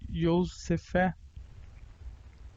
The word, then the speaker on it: Yosef: José, que no original hebraico escreve-se e pronuncia-se Yosefé.